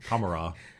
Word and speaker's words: Commorragh: I don't like to pronounce the GH, because if Wa isn't pronounced that way, then Commorragh.